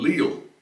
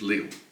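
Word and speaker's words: Lille: um Chone Festival in Le in northern France um I always find it interesting when Americans say Le France because to it's just Leo you know uh my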